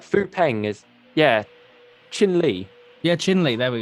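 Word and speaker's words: Chin Lee: Try not to mispronounce it. You know what I mean? Yeah, that's gonna annoy me now. Is it Ping Li? No, it's like Fu Peng is Chin Li.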